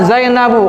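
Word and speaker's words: زينب: Ah zainabu. Kenapa zainabu? Dibahasa g tanwin karena muan. Nah muannas.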